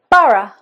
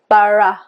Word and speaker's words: borough: Borough as in above. Borough. Above.